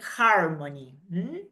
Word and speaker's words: harmony: In English, we pronounce it. It is not a silent consonant.